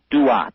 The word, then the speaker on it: Duat: The ancient Egyptians spoke of a special region of the sky, and they called that region of the sky the Duat. It's spelled D-U-A-T when you transcribe it into our alphabet.